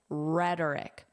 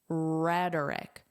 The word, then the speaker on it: rhetoric: Putting aside Monday's rhetoric, notice the pronunciation is very different from the spelling. Rhetoric. Rhetoric.